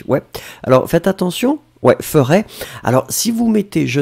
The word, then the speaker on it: ferai: Souvenez-vous, le futur, on le prononce exactement comme ça, mais il n'y a pas de S. F-E-R-A-I. Juste comme ça. Si vous mettez le S, c'est le conditionnel.